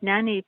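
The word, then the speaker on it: naani: a good idea i've seen a few okay nani poems um are four nine poems that originated in india they're written with a syllable count of between 20 to 25 syllables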